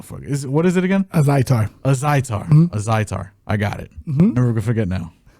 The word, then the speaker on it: Azaitar: Azaitar. I keep saying, like, my brain just wants to go Atazir or Al Jazeera, or I don't know what the fuck what is it again? Azaitar.